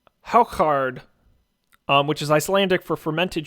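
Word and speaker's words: hákarl: myself eating it yeah yeah it is it's pronounced how card which is Icelandic for fermented shark it's the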